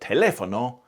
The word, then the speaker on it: telefono: The stress on Italian words is important, and normally it's on the syllable before last, except when it isn't. So bambino is predictable, but telefono and cinema aren't.